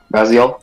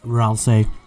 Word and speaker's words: Ralsei: Raziel? Ralsei. Whatever. Ralsei. I always call him Raz. I've never heard it pronounced like that.